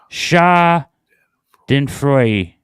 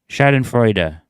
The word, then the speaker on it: Schadenfreude: It's pronounced Schadenfreude. Schadenfreude.